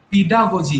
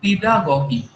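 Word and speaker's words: pedagogy: পেডাগজি নিয়ে, তাই না? পেডাগগি, পেডাগগিও বলে উচ্চারণ, অনেকে পেডাগজিও বলে, কোনো অসুবিধা নেই।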